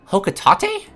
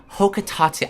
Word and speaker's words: Hocotate: It's pronounced... what? Hocotate? I know there's been debate over this, but he says it out loud in Pikmin 3. Can't ask for much more confirmation.